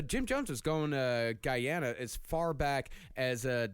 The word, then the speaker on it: Guyana: and that's what I found out it's actually pronounced Guyana Guyana yeah Guyana the reason why he went